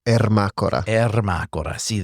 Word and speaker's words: Ermacora: so let me hear it from you you'd pronounce the name it's Irma Cora so not not Irma Cora yeah but you